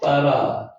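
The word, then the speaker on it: ברא: 빠라. 작지만은 아 발음 나고요. 아 발음 나고 빠라. 빠라의 키즈죠.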